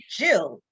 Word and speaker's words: Gill: stealth Gill yeah because it's well pronounced Jill because my full name is Jillian okay so so for